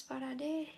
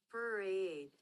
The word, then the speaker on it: parade: make competition with this parad. So yeah, you know, parad is pronounced like this. Parade. Parade.